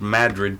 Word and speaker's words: Madrid: is about 20-minute drive from my hometown of Madrid, Iowa, just like Madrid, Spain, but pronounced Madrid because we're in America.